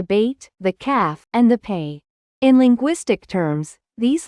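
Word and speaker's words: פ: Similarly, with Peh, we hold back the air with our lips for the P sound, but for Fe, the air is allowed to flow freely.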